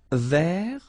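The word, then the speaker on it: vert: Feminine rou remember Rouge ver so masculine form you don't pronounce the final ver feminine form ver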